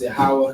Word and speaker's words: Yahweh: Jehovah is what they say is the English translation of Yahweh. All right, it's pronounced Yahweh.